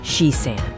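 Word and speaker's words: 四三: And then there's 43, pronounced shi-san.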